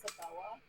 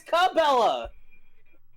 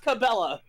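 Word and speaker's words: Cabela's: Wait, it's not pronounced Sabella. You've been pronouncing it Sabella. Yeah, it's Cabella. Really? Yes. Oh, it's always been pronounced Cabella.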